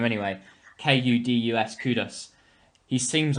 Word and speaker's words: Kudus: muhammad kadus um i think that's how you pronounce his name anyway k-u-d-u-s kudus he seems like a very exciting prospect